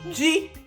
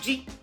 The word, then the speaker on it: ji: Then yam in Igbo is pronounced ji. That's yam in Igbo, ji.